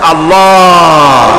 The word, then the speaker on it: আল্লাহ: নিশ্চয়ই মনে আছে আল্লাহ এই উচ্চারণটা আমাদের অনেকের হয় না কেউ বলে না আল্লাহ আল্লাহ পাকের উচ্চারণটা হচ্ছে আল্লাহ পাকের নামকরণ হচ্ছে আল্লাহ মুখটা একটু গোল হয়ে যাবে বলেন আল্লাহ আল্লাহ সুবহানাল্লাহ